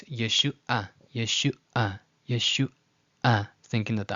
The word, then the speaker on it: Yeshua: The ayin is not treated as a glottal stop. It's just Yeshua, Yeshua, instead of Yeshua, Yeshua. That ayin is supposed to be a pause.